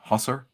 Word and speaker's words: Hussar: remains to be seen I believe it's pronounced Husser well it could be